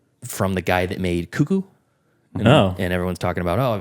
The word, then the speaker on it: Cuckoo: got to watch loose is it cucko or Kaku it's C no it's cuckoo it's like a cuckoo bird cuckoo I guess so it